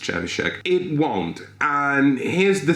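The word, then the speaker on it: Trzewiczek: I'm kidding, I know his name is pronounced Chevishek.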